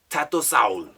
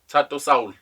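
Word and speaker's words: Thato Saul: He says ThatoSaul. ThatoSaul.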